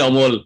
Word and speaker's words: Amal: first name is still amal so no but you have to change it to amol actually yeah uh that's what my auntie was pronouncing she gave me that